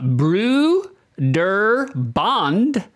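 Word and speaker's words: Brøderbund: it and squashed it all together apparently it's pronounced uh Bru der Bond uh but ain't nobody's saying that it's Broder bun all right you're trying to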